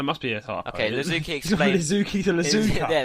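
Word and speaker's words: Iizuki: Just say Lizuki.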